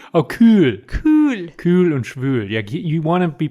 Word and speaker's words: schwül: Und in Jamaica, heiß und schwul. Cool. Yeah, ziemlich cool. Oh, cool. Cool. Cool und schwül. Yeah, you want to be pronouncing that correctly. There's an umlaut in schwül, which means humid.